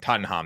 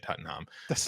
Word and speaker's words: Tottenham: favorite in Tottenham Stadium Tottenham that's how you say it Tottenham how you say it in London lond London uh